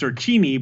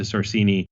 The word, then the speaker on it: Sorcini: Formally, it's pronounced Sorcini, but within the industry, I think it's just sort of been mangled to Sorcini enough that I'm like, you know what?